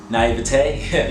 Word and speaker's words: naivete: Naivete?